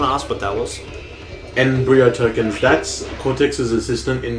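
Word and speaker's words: N. Brio: Embryo tokens. That's Cortex's assistant in this game, and... Spell it? His name? N, as in just a letter, yep. .BRIO. It's a pun. Okay. Like embryo.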